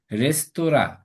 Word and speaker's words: রেস্তোরাঁ: আচ্ছা, এরপর রেস্তোরাঁ, রেস্তোরাঁ হবে রেস তোরা, রেস তোরা।